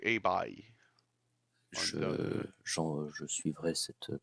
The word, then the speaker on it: Hei Bai: Selon Edouard, c'est A-Bye.